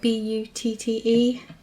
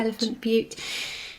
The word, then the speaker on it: Elephant Butte: So on the 22nd of March in 1999 in a town called, I think it's called Elephant Butte. I don't know, it's spelled B-U-T-T-E. Yeah, I would say Butte. Elephant Butte.